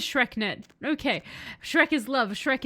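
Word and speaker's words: SchreckNet: No, that is how it's said. So it is said as Shreknet.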